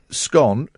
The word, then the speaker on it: scone: The survey also revealed they the preferred way to say scone rhymes with gone for goodness sakes.